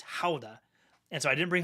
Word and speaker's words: Gouda: It's not pronounced Gouda in the Netherlands. It's Gouda, and so I didn't bring home any Yes.